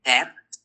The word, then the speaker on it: tet: Tet. That's your tet. That is the one of 2 sounds in the Hebrew that can produce the T sound.